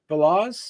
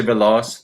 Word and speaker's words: Veloz: Lucy Veloz. Veloz. Yes. Like Velocity. So Lucy Veloz, the high flying princess.